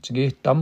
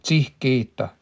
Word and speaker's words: tihgeta: I was saying that wrong. There's a long I there. When you ever see that H, it's because we don't have, they call that an aspiration. We don't have those in English, not really.